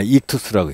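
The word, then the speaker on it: ΙΧΘΥΣ: 거기에서 이것을 읽을 때는 어떻게 읽냐 익투스라고 읽습니다.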